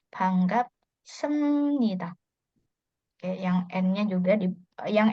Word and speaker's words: 반갑습니다: Nah, terus yang di sini dibacanya M ya, karena tadi sebelumnya kita sempat bahas karena ada B ketemu N jadinya dibaca M ya. 반갑습니다.